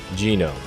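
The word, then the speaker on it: ゲノム: Genome. Genome is pronounced genome in Japanese. This is due to emulating the German pronunciation since the word was coined by a German professor.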